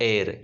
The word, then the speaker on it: heir: नया उत्तराधिकारी है, ये एयर होता है, ये HEIR, इसमें आपका एच जो है उसको बोला नहीं जाता, तो उसका प्रोनाउंसिएशन क्या होगा, एयर यानी उत्तराधिकारी।